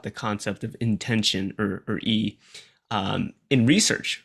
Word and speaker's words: yi: that's intention so it's often translated as e pronounced e but it's written as y i transliterated and